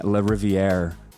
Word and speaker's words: Lariviere: and good afternoon everyone I'm here with Dean Le riviere did I pronounce that right that's right okay great uh